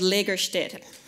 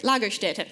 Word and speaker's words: Lagerstätte: They're called Lagerstätte. I didn't pronounce that right. Lagerstätte. If you're going to spread this around to your friends, you better pronounce it right.